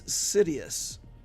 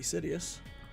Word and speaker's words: Sidious: I am Sidious, and don't call me Shirley. I think of that every time I say the word Sidious, because it sounds like you're saying serious, just saying it wrong.